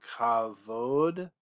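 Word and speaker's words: כבוד: I know we say Ichabod, but this bait here, it's that V sound, kavod.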